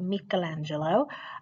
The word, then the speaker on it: Michelangelo: be is it me is it me is michelangelo and that is how you pronounce it michelangelo uh with his sculpture of course the david